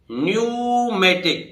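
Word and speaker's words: pneumatic: silent रहेगा तो देखिए प साइलेंट है भाई न्यूमेटिक यह कैसे पड़ेगा न्यूमेटिक न्यूमेटिक न्यूमेटिक पड़े जाएगा न्यूमेटिक वायु यंत्र होता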